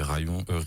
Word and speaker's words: Rayon: un peu des autres rayon r y o n que je prononcais rayon rillon au début donc faut pas faire l'erreur mais ouais je conseille